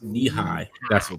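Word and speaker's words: Nehi: i'm not a monster can and stuff says pronounce knee-high okay yeah knee high what about ranch dress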